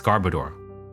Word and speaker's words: Garbodor: a it's a gar I think it's Garbodor right I don't know if I'm saying it right Garbodor gar garoor yes it's Garbodor what gen do you